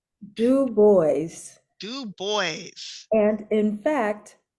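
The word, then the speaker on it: Du Bois: score and he says you pronounce it do boys and he spells out the DU puts the space b o YZ so he he makes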